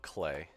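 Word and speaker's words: Klei: assume okay it's pronounced clay is it clay I thought it was Clay it's pronounced clay because their websites say it clay entertainment clay it rhymes with play ha it rhymes with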